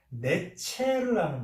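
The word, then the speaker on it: נצר: 이 가지라고 번역한 이 단어가 히브리어 원어로 발음하면 네체르라는 말이에요.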